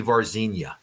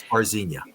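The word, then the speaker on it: Varginha: It's actually pronounced the Brazilian way would be Vzena. Vzia. The Virginia. It's Vzena because that was more recent.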